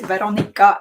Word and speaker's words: Veronica: Both are right. Veronica is the official version. Veronka is like the cutie version. She's a cutie. I call her Veronka.